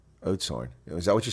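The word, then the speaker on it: Oudtshoorn: You pronounce pronouns Ootshorn like oats and the porridge horn like horn. I have no idea what you're saying. Oatshorn. Is that what you're saying? It's pronounced Oatshorn?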